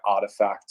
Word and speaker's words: RTFKT: what we've seen by artifact or rtfkt if you don't know that they're pronounced like that i didn't until recently